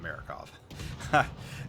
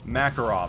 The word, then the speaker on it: Makarov: No, it's not Marakov. Makarov, I think.